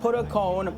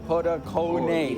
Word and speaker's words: Padukone: #1 is Deepika Padukone. Not Padukone, Padukone. Everybody pronounced her last name wrong.